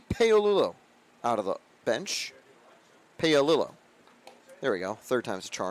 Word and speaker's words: Paolillo: Paolillo. There we go. 3rd time's a charm and getting that pronunciation right.